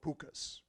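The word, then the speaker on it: pooka: They're called pukas. And depending on where you are, it's spelled P-O-O-K-A or P-U-K-K-H-A or P-U-K-H-A. But however you spell it, it's pronounced puka.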